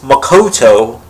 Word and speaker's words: Makoto: the next episode preview Usagi actually says Makoto correctly she stresses the next the last syllable but then she gets